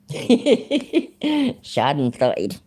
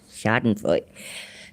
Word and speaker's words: Schadenfreude: I didn't say fried, I said Freud. Schadenfreude. Schadenfreude.